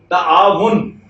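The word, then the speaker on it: تعاون: बड़े फंक्शन करते हैं तो आवन, अब ये क्या असल में क्या है बाबे तफाउल है तो क्या होना चाहिए ताआवुन, तो आवन नहीं है उसी परेशान हो गए ताआवुन ताआवुन।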